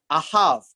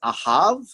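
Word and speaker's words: אהב: It is this word in H157, ahav, and notice the bet here is pronounced as a V, it's ahav.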